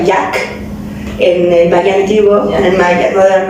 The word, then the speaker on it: Yaaj: Originalmente se pronuncia Jack en el magiguo, el mayor no es.